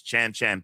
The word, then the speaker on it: Chan: played by Chan uh Chan I always say it wrong. It's not Chin, it's Chan Chan Peng, right?